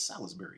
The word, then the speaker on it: Salisbury: that either has to is it Salisbury or Salisbury it's Salisbury steak it's not somebody yeah it's like I mean why I give it all these extra syllables this is like a British kind of thing like Salisbury nah Salisbury sounds like American you know it's like